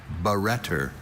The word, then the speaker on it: barretter: Barretter is the only pronunciation for this noun.